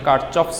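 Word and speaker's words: Kirchhoff: কারশফের সূত্র কারশফের সূত্র, কারশফস ল, অনেকে কারকফস বলে, অনেকে কারচফস বলে। কারশফস, কারচফস, কারকফস সব একই কথা, অনেকভাবেই প্রোনাউন্সিয়েট করে।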